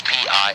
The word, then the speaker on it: Pillar: That's Pillar.